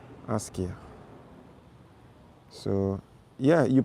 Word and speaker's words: Askia: So it's actually pronounced Asia. Asia.